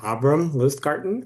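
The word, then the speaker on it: Abrahm Lustgarten: And I would be remiss if I didn't correct um the pronunciation of his name is Abram Larten.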